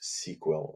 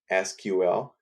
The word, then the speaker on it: SQL: database is called sql it's written sql but it's pronounced sequel and some people will pronounce sql and they're really not